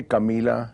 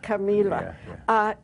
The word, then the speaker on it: Camila: Yeah, we say Camila. Camila.